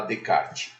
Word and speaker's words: Descartes: Vocês vão ver que René Descartes se escreve René Descartes porque ele era francês, porém a gente fala Descartes.